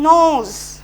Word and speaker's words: gnaws: Fifth লাইনটা দেখো, hour আপন আওয়ার, ঘন্টার পর ঘন্টা, হি নোজ, GNAWS, উচ্চারণ হচ্ছে নোজ।